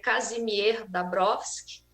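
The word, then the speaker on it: Kazimierz Dąbrowski: um psiquiatra polonês, que em português, né, nós vamos dizer Kazimierz Dabrowski, mas no polonês tem outra pronúncia. Mas podemos ficar com a pronúncia em português para ficar um pouco mais acessível para nós, né?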